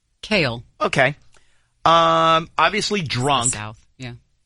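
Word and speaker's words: Cael: Pronounce. Kale.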